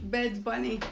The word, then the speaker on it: Bad Bunny: Bad Bunny. Bed bunny. Like bed. B A D. Bed bunny. Bunny. Bunny. Yeah. Bed bunny. Okay. Let me see. There's a song there. Bed bunny.